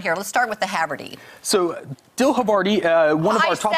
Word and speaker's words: Havarti: Let's start with the Havarti. So, dill Havarti, one of I our top... I said it wrong. Havarti. I'm so sorry.